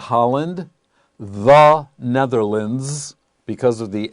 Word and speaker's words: Netherlands: one more thing notice netherlands l-a-n-d-s or l-a-n-d at the end of a term in geography is not pronounced land unless it is separate if it's one word then we have the sound lind and the best example